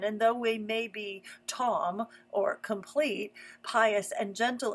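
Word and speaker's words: תָּם: Hebrew the word for blameless here is T pronounced Tom T A WM and it means gentle dear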